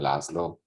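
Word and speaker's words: László: whatever so so so you can call me laszlo like there was a musician in the united states singing the the main song of the tv show scrubs laszlo vein so you can just pronounce it like laszlo however it's it's comfortable you know i never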